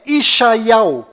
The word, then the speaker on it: ישעיהו: Bom, agora ficou bem claro que a verdadeira pronúncia do nome de Isaías em hebraico legítimo lá em Israel é Ishaiau.